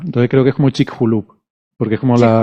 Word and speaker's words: Chicxulub: Vale, pues Y creo que ahora, la pronunciación, la X, es como la J. Entonces creo que es como Chicxulub. Porque es como la Chicxulub.